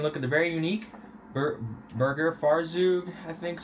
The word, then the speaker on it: Burgerfahrzeug: we're taking a look at the very unique B Burger Faro I think is how it's pronounced yes buger farou otherwise known as BF Surfer this will be